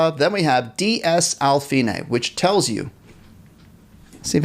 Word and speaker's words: fine: Now we also see the word, now this looks like the word fine, right? But we don't pronounce it fine because it's from the Italian language. So we say fine.